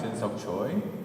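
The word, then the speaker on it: Jinseok Choi: That's my name, JINSEOKCHOI, Shin-seok Choi, that's how you say it, at allen.keller.edu.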